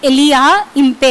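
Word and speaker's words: Elijah Impey: So spelling வந்து ELIJAH IMPHEY. இங்கே வந்து ஜே வந்து சைலண்ட், ஸோ அதனால தான் எலியா இம்பே அப்படின்னு ப்ரொனவுன்ஸ் பண்ணணும்.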